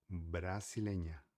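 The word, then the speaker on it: brasileña: Então a única letra com ti é N, que seria N, tá? A L se chama N. Beleza? Então, brasilenha, brasilenha, que seria brasileira.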